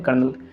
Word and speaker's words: colonel: कर्नल का spelling COLONEL लिखा जाता है, कोलोनेल लिखा जाता है, बट इसे हम लोग पढ़ते हैं कर्नल।